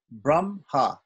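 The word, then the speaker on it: ब्रह्म: in some shiksha that if an h comes before an m in a word that it's actually pronounced the other way around this is an exception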